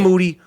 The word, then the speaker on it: Moody: starring me and G Moody whose last name rhymes with duty Miles Jordan let's start